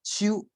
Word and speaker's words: 就: 那客语呢，要念成秋。那个像阿文哥平常啊在家里讲，我们都发成啾啊。那个应该是要念成秋才对了哈。今生秋爱你，念成了啾 G 的音啊，那就是被国语影响了啊。